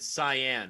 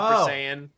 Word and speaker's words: Saiyan: got i got into uh who did i mispronounce oh i didn't say uh i said cyan instead of cyan saying it's i said cyan instead of saying so super saiyan and i said cyan and like someone someone